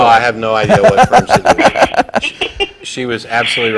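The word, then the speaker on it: Fyrnsidu: My religion is called Firm Sidhu, and you've never heard of it. Could you spell it?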